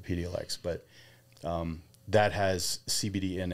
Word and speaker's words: Epidiolex: I believe that's how it's pronounced, Epidiolex.